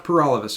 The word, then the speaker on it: Paralovos: my name is pur all of us and that rhymes with